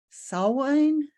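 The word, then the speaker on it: Samhain: or or uh it's I I always mispronounce um this but I think it's saw wine well we'll get to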